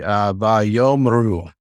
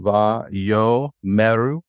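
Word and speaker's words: וַיֹּאמְרוּ: So the M and the R don't have anything strong. Just So there is a schwa. I'm closing the syllable in this case. You could go to another school and they'll tell you that this is an open syllable, va-yo-meru. But I learned it with va-yomru. But you'll hear some that'll say it's va-yomeru. Yep.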